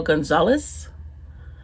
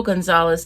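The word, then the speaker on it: González: I will be reading by Justo L. Gonzalez. I guess you pronounce that as an H.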